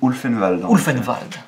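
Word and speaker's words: Ulvenwald: Ulfenwald. Ulfenwald, non? Ulfenwald. Non, le W c'est V et le V c'est F.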